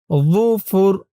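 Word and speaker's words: ظُفُر: যুফুর, জর উচ্চারণটা একদম নরম হবে।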